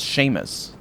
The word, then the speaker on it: Seamus: That's pronounced Seamus. Like, as in shame.